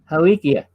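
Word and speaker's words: Haleakala: o s all right and it's the the pronounces helichia h-a-l-e-a-k-a-l-a that's on maui that's the observatory that's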